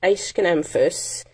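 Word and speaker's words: Aeschynanthus: because the pronunciation well the pronunciation is um it's an a ascanamphus ace can emphasis otherwise known as a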